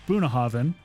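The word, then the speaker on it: Bunnahabhain: pronounce but it so this one is pronounced boonahaven even though it doesn't look like it uh people who put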